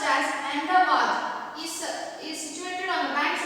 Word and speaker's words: Ahmedabad: Ahmedabad, pronounced as Ahmedabad, is situated on the banks of the river Sabarmati, and it is the biggest city in Gujarat.